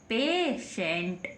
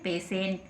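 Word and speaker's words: patient: आई ई है ना टी के बाद आईई है तो क्या पढ़ेंगे ट को टी को स क्या पढ़ेंगे स पेशेंट क्या पढ़ेंगे पेशेंट है ना पेशेंट की spelling P ए टी आई ई एन टी पेशेंट है ना अब इसी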